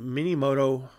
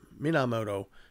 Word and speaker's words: Minamoto: I do apologize um so there's this guy named MiniMoto I'm sorry not mini mini Mina minamoto yorim Moto so I'm